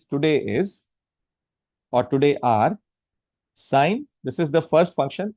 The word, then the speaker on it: sine: is or today are sign. This is the first function. In short it is written as s i n. We pronounce it as s. Don't pronounce it as sin or else you will commit one.